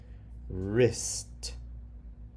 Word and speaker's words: wrist: That's a closed syllable. It does follow the rules. My turn. R. I. St. Wrist.